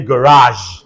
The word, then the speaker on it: garage: You are, say garage. Garage. Yeah, this is garage. Look at this sound. It's pronounced Z.